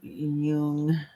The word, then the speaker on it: Jung: Um, it looked up the wrong Carl Yung. Uh, J U N G. Let's see. J U N G. Because Yeah, that's how you say it. Yung.